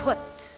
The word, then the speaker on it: put: word and it is put put put it on and we unmask this because it rhymes with foot now we had four